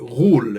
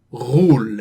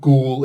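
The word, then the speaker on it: غول: they introduce a character rule in here which i love and yes that's the proper arabic uh pronunciation rule it's not a sound in the english language there are lots of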